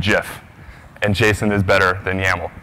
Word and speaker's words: GIF: is for me to pronounce these two acronyms Jason and Jeff and Jason is better